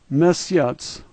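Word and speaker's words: месяц: Second letter yeah, third letter S, fourth letter ya, and that last letter has a TS sound like tsunami. Let's say this word. Mesyats, mesyats.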